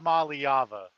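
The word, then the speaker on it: Iamaleava: It's Aliyava.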